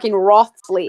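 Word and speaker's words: Wriothesley: You're talking about Riosley. No. No. Who's the anime boy? Everyone said like the werewolf dude. The Yeah. And he's just a skinny name Riosley. And it's actually pronounced Rothsley.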